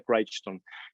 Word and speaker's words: Crichton: es como se pronuncia se escribe crichton pero se pronuncia craig stone ya falleció este hombre